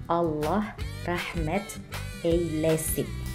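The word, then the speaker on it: Allah rahmet eylesin: eylesin Semoga Allah merahmatinya cara bacanya Allah Rahmat Kei Lesti oke sekian pelajaran tentang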